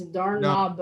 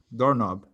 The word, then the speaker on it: doorknob: Teacher, you don't pronounce the key in this case, doorknob only. Okay. No, doorknob. Yeah, the K, when it's at the beginning of the word, it's never pronounced.